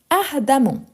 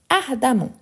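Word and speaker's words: ardemment: une fois de plus n'oubliez pas e avant double m il y a les sons de a donc ardamment ardamment ensuite on a sincère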